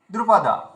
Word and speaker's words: দ্রুপদ: মধুমঙ্গল জি পুত্র এখানে এখানে আপনার উচ্চারণে ভুল হয়েছে দেখপাদা এভাবে আপনি বলেছেন তাহলে কি দীর্ঘ হয়ে গেল তাহলে এখানে কি করতে হবে দ্রুপদা দ্রুপদা একটু গতির সঙ্গে বলুন দ্রুপদা বলুন না দ্রুপদা এটা বললেই দ্রুটা দীর্ঘ